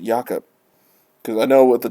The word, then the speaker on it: Jacob: yaka markstrom to Calgary I always want to say Jacob I guess he is Swedish so I guess they pronounce it yakup cuz I know with